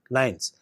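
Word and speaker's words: LINEs: nuclear elements that is l i and yes pronounced as nines while the satellite markers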